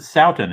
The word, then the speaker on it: Sothen: His last name is spelled Southen, but I think you pronounce it Sothen. Is that right?